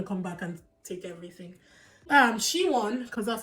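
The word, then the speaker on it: Si-won: She-won, because that's how they pronounced it. She-won Lee is a South Korean actress.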